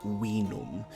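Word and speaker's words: vinum: u m is pronounced wum with a W sound which is um represented by the W in English um so um it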